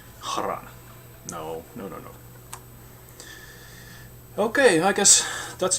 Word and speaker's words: Kharan: Well, like Kharan. H is not for decoration. Well, it's also for that, but you hear it. Kharan.